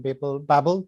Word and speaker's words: BABL: And today I'm very excited to have Ryan Carrier from the ForHumanity project and Shea Brown from BABL AI. Did I pronounce it right, Shea?